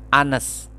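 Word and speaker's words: honest: Tapi kenapa pakai an? Kenapa? Karena dibacanya Anes, an Anes girl, seorang gadis yang jujur.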